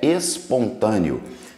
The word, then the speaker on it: espontâneo: no Rio né carioca nós cariocas temos a mania de falar o som do S falar com x né Tem gente que